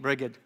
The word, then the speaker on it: Brigid: more about St briged St briged sometimes that people say say Bridget but ail tells me it's mispronunciation Bridget sounds so much